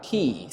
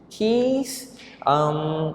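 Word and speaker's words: quiche: Last but not least, we have keys. So this word is a little bit difficult to pronounce. It sounds okay. Key. Keys. It's from the French words.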